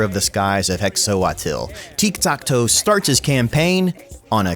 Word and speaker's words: Tiktaq'to: a noob's guide to tik takto this is tiktakto which is how you would pronounce his name if it was actually aztec not gorok oxiadol the